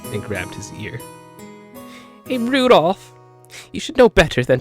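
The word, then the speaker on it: Rudolf: It's just Anyway, this guy's name is pronounced Rudolph.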